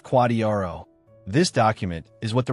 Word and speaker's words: QDRO: You need a special separate legal document called a qualified domestic relations order or QDRO pronounced quadrro.